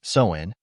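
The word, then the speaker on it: Samhain: 2,000 years ago with a festival called Sinn pronounced soen celebrated by the ancient selts in what we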